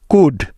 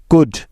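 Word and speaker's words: could: বা উজ্জ্ব থাকার নিয়ম এল এর পরে ডি এফ কে এম এই চারটি লেটারের যেকোনো একটি থাকলে ওই এল টা সাইলেন্ট হয়ে যাবে যেমন ডি এর আগে এল সাইলেন্ট এর উদাহরণ যেমন কুড সি ও ইউ এল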